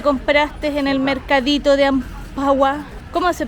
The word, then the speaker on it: Amphawa: A ver, tú muéstrame lo que te compraste en el mercadito de Ampagua. ¿Cómo se pronuncia? What is the name Ampagua? Sí, Ampagua.